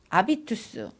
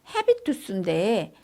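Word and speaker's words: habitus: 그래서 사회적 구성물인 아비투스, 이 아비투스는 뭐냐면 헤비투스인데 아비투스라고 읽어요.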